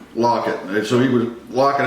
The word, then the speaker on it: Lockett: it was number 16 I kept saying his name wrong fan Tyler Lockett lock it okay so he was